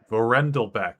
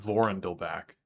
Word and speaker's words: Vorandelbeck: Vorendelbeck is how you would pronounce that, Shaorath. Not Vorendelbach.